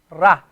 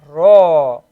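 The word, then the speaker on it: رَ: You cannot say ra. So notice jim fatha ja, ba fatha ba, sin fatha sa, ra fatha ro, ro.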